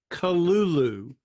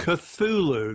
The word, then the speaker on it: Cthulhu: But anyway, he says he has an entire thing on its Kalulu is the correct pronunciation according to Lovecraft. Not Cthulhu. There's no TH, it's Kalulu.